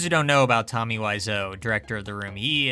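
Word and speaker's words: Wiseau: It's not Weiso, it's Wiso.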